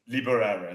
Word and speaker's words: Liboreiro: not really how do you say it liberer there we go you can set the people